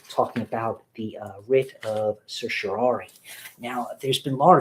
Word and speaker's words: certiorari: you are not alone I'm going with certiorari I'm referring to CER t io r AR I I hope that I'm pronouncing that in a way that's acceptable to you so what is the